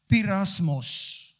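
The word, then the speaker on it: πειρασμός: And the word is pronounced pirasmos. Everybody say pirasmos.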